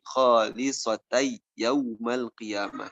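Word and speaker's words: خالصة يوم القيامة: Kemudian selanjutnya, contoh dengan tanwin, dari khalisatan yaumal qiyamah, ketika diidghamkan menjadi khalisatai yaumal qiyamah.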